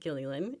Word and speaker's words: Gilleylen: So, um, hello everyone and I appreciate that you said my name correctly, Gilly. It is a little bit hard to pronounce.